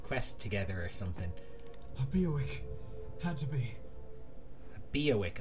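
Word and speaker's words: Biawac: A Beowick. Had to be. A Beowick. Oh, that's how it's pronounced.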